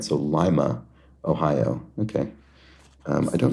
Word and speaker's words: Lima: And then Ohio City whose name is pronounced with a long I. All right. So Lima, Ohio.